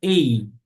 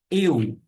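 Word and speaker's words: ευ: Não pronuncia ei, e sim eu.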